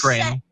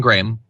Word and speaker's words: Graham: like even if he doesn't know how to pronounce Franklin Graham's name correctly. Sorry, that's Graham. Franklin Graham.